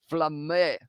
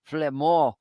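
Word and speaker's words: Flament: He slid over, and it's the try, and it is going to be Thibaut Flamé who was able to score it. I feel like the pronunciation was not good, but Flamand able to score it there.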